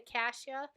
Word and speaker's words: cassia: wild orange or cassia I'll spell that for you see a s-s-i a some people say Kasia either wait when I